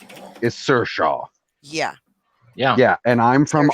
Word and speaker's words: Saoirse: Sao Rise is Saoirse.